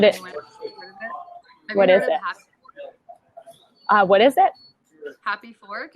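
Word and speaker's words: HAPIfork: Happy Fork. It's spelled HAPI.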